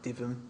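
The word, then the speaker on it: Dytham: I think that's how we're pronouncing it, Divum.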